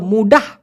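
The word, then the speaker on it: mudah: আর একটা হচ্ছে মুডা, এই মুডা মানে হলো কাঁচা অথবা অল্প বয়স্ক, আর এটা হলো মুডাহ, বানানটা দিয়ে দিই না আপনাদের বুঝতে সুবিধা হয়, মু ডি এ হেইস।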